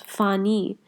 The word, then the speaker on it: fani: Pani becomes fani because the p sound becomes a fa sound.